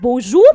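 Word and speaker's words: bonjour: बोजू, बोजू का मतलब क्या होता है, बो जू, जू, ना ज ना ज, बो जू। मेरे लिखने से ज्यादा मेरे बोलने पर ध्यान दीजिए।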